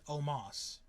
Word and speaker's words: Omos: Yeah, it's spelled Omos. Yeah, but they pronounce it Omos, which is so dumb.